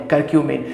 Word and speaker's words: curcumin: जी हाँ दोस्तों, प्रोनाउंस और स्पेलिंग जो है मैं बता देना चाहूंगा CURCUMIN, करक्यूमिन।